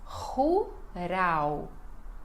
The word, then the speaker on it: rural: Então, a pronúncia é rural. Rural. Ru, este R, início de palavra, né?